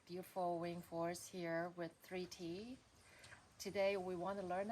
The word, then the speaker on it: Thrity: is um I write it as a three in a t because that's how it's uh pronounced and spelled like the word 30 with the I or the other way around I have very various